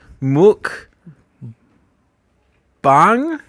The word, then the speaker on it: mukbang: japanese okay let's see muk bang mukbang is how i'd want to pronounce that yeah and i think